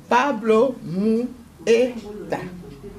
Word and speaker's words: Pablo Mueta: Je suis avec l'homme de Dieu, l'évangéliste Pablo Mueta. J'ai bien prononcé, hein? C'est ça, oui.